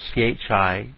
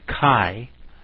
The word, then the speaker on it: chi: we'll get Cairo and is pronounced like the city in egypt cairo so it's also spelled CH I dash Rho and it